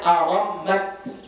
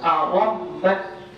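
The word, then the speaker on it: أرمّت: Cara bacanya arammat bi fathir ra'i wal mimi al musyaddadati wa iskanit ta'i. Cara bacanya dengan memfathahkan ra dan mim yang bertasydid dan mensukunkan ta. Jadi cara baca yang kedua arammat, arammat, ra fathah, mim fathah dan bertasydid, kemudian tanya berbaris sukun.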